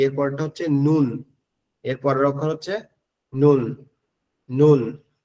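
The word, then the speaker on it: نون: এরপরেরটা হচ্ছে নুন। এরপরের অক্ষর হচ্ছে নুন। নুন। এরপরের অক্ষরটা হচ্ছে কি? নুন।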